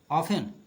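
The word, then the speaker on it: often: ही वॉज ऑफन arrested, ऑफन एफ यहाँ silent है, इसको ऑफन हम पढ़ेंगे।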